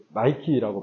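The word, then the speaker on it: Nike: 여러분 나이키가 여기서 나왔어요 나이키가 영어식 발음으로 나이키라고 발음을 하죠 그래서 실제로이 니케 여신의 그 날개를이 나이키의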